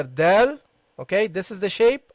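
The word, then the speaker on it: دال: Okay, the dal without any dots, and the dal with a dot. Okay, with a dot on it. And when you pronounce a dal, look, dal, you don't see my tongue coming out.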